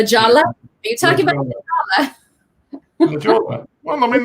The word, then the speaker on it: La Jolla: Are you talking about La Jolla? La Jolla. Well, I mean, that sounds phonetically. It's like La Jolla. La Jolla. So there's the Spanish influence.